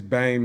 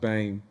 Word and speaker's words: Bem: So my name is Bem, is Bem, but it's pronounced Bame.